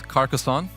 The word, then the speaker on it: Carcassonne: It's Carcassonne. That's how you pronounce it.